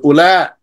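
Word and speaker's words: أولى: And other things like that, such as how do you spell Ula? Ula, you spell it Alif, Waw, Lam, Alif, Hamza. But this Waw here, you don't pronounce it. So you say Ula.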